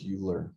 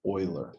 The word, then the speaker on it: Euler: this person's name no it might look like euler but it is not it is euler the how many of